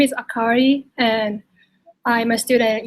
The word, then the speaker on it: Akari: in Japan um so again my name is akari it's spelled AK a r i and I'm from